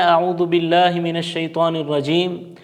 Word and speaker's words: اعوذ باللہ من الشیطان الرجیم: جو چھوٹے ہوتے ہیں وہ پڑھتے ہیں اعوذ باللہ من الشیطان الرجیم۔ یہ بالکل غلط ہے۔